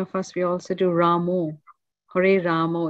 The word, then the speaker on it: Rama: them chanting Ramo because it's bogus and it's there's no allowance for Ramo it's not allowed it's just it's Rama who is Ramo who who the hell is that you know what is he somebody's Italian Barber or something you know it's Rama thank you thank you yeah